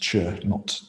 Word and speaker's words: Chöd: And then we started looking at Chöd, which incidentally is pronounced Chöd, it's often spelled Chöd. But the sound of it is a bit like the sound of something cutting through something. It's very sort of ch.